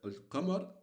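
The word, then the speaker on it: القمر: As for the al-qamar, as for the letter, the lunar letter, you will pronounce the al. So if we have a waw in front of the al, we will jump the we will jump we will not pronounce the alif, and we'll go directly where we go directly to al, and we pronounce only the al, okay? But if obviously we don't have the wow, we'll say al qamar.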